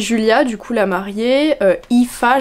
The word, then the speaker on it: Aoife: Parce qu'on suit Julia, du coup la mariée, Aoife, j'ai regardé, ça se prononce comme ça s'écrit pas du tout comme ça, mais les noms irlandais c'est vraiment une dinguerie.